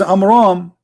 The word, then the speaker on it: Amram: So the correct name is Amram.